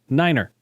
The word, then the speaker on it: niner: the most famous is the number nine which is pronounced Niner other numbers have phonetic